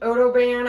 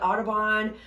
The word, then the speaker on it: OdoBan: I think it's pronounced Odoban. I've heard people call it Audubon, but I will say this is my go-to cleaning solution for anything with my animals.